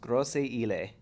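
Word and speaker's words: Grosse Ile: Grosse Isle is at Jefferson. I really feel like I'm saying that wrong. Sorry. I believe it's pronounced Grosse Isle.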